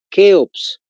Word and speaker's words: Keops: la primera se llama con c de kilo por si acaso se escribe keops tal como se escucha keops Esta es la civilización